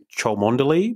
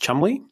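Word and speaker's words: Cholmondeley: it's s Rose it spell looks like it's ch mondy but it's pronounced Chumley I don't know why she's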